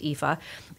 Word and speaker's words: Aoife: it spelled 8o i Fe and it is pronounced Eva she was one of the headliners at Irish